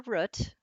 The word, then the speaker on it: root: how many would prefer root looking for any yellow hands oh just one root like butt nope yeah root like boot yeah it looks like